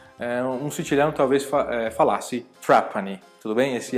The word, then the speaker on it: Trapani: Então, R mocha também tem o Retroflexo na Sicília. Então, por exemplo, tem uma província, né, uma província na Silha que é Trapani. Eh, um silhão talvez falasse Trapani.